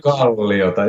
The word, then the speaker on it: Korpiklaani: Is that how I pronounce it? Korpiklaani, yeah, Korpiklaani.